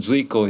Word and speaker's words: Zuiko: is my Mandarin name, and Zuiko is the same thing but pronounced in Japanese.